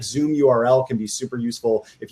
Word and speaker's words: ZMURL: Another one that I think is really cool is called Zoom URL. It's spelled ZMURL, and basically it's a tool for running paid and doing RSVPs for virtual events.